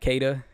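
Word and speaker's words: Caeda: Honestly, I'm just Camp Keda because that's how it's spelt. But her Say Japanese, it like that too. yeah, her Japanese name being Sheeta is also acceptable.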